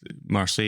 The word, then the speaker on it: Marseille: Because it's Marseille is the location.